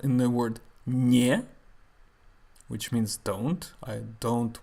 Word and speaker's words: не: Why есть is pronounced with the y sound and не is pronounced without that y sound?